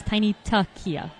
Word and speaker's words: Tiny Tuckia: All right, I have unfortunately been pronouncing Tiny Tuckia's name wrong. It is Tiny Tuckia.